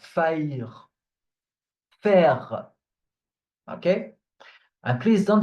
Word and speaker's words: faire: The E at the end of words is just there to make you pronounce the consonant that is before.